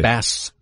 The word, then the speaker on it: Bas: Well, why are you pronouncing it Boz, though? Right. Probably like Baz or something. Exactly. Bass. B-A-S, right? Bass Rutten. Boz would connote a Z, right?